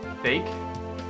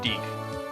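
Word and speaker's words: Dieck: So it's, well, I think it's still pronounced Deke. Dake? No, Deke.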